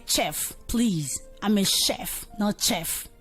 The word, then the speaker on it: chef: this before where we have their graphs eh pronouncing us sound so they'll say chef please I'm a chef chef and the last